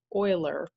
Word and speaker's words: Euler: discovered you might say by this guy named Euler and I've written over here because to me it's not obvious it's pronounced like Euler but it's spelled like Euler or at least